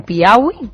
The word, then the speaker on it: Piauí: He leído hace poco que explotó un ovni en Brasil, en Piauí. No sé si lo he pronunciado bien. Piauí.